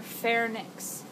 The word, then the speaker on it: pharynx: right you've got your pharynx and if you think it's actually spelled with the ph but it sounds like it starts with an f right pharynx so think it's